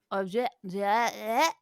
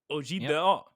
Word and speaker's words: objet d'art: How do you pronounce that word? Objet d'art. Objet d'art.